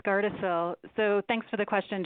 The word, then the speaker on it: Gardasil: He asked, will the new health department provide vaccines like Gardasil? I'm not sure if I'm pronouncing that right. Lisa? That's right, Roger. It's Gardasil.